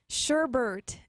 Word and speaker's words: sherbet: Tori, what is a mispronunciation that drives you crazy? Sherbet.